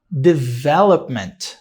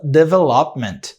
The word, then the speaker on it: development: Só que muita gente fala development. E não é assim que pronuncia. Isso é erro de pronúncia, tá? É a mesma coisa de eu chegar para você e falar assim, ó, pronuncia essa palavra em português. Aí você, arvore. Não, é árvore. Não é arvore. Arvoré. Erro de pronúncia. Você errou a word stress. Você errou onde a sílaba tônica está.